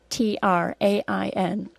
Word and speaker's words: train: These 2 words are pronounced the same, except for the first word has an R-controlled vowel, and the second word doesn't. Listen carefully. Terrain, train. Notice also that the first word is 2 syllables long, and the second word is only 1 syllable long.